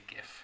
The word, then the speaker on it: GIF: It's always a GIF. Yeah. Acronyms take the sound of the first syllable of the first word. So actually, graphics GIF.